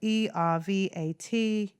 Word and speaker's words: Ervat Aviv: Then there's the number 6 is spelled ERVATAVIV, and it's pronounced Ervat Aviv.